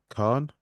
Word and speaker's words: Khan: I'm joined in studio with professional mixed martial arts fighter Haider Khan. Yeah, But no, I'm glad I pronounced that correctly.